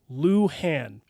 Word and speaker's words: Luhan: last name l u h an they also pronounce it Lan we cover this in Mabel Dodge but people